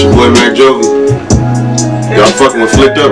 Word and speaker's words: MacJovi: MacJovi.